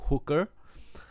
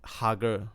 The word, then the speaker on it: hugger: kid high-fiving San Jose hometown hooker the is actually hugger but the way she